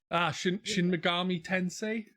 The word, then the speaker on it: Shin Megami Tensei: Shin Megami Tensei, I think it's pronounced.